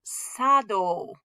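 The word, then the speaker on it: 茶道: notice this is ocha tea ceremony is sado that cha is going to get pronounced sa okay so sometimes with all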